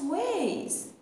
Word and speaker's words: vase: Oh no, the blue glass vase. بچه کلمه vase، vase یا vase که تلفظ بریتیشش میشه vase، vase.